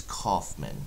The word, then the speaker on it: Kaufman: my name for one it's not George it does kind of sound like Holland but it's but it's Kaufman is the way that it's pronounced thank you very much